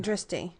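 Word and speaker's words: drishti: dry point is that how you say it dristy yeah dristy point so when you are doing the tree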